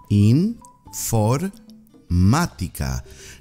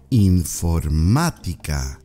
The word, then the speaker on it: informática: informatica which is IT in for matica not as the action on top of the a that's for emphasis informatica try repeating after me repeat e informática very good you're doing